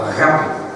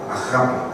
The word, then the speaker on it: agape: Del amor ágape, o agape, como se pronuncia en el griego correctamente, agape.